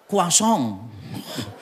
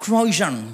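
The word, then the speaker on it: croissant: Misalnya ini ya tulisannya croisan bacanya kuasong. Saya dulu coba inggris-inggrisan gitu kan ya ngomongnya pesannya apa? Croisan gitu enggak? Kuasong.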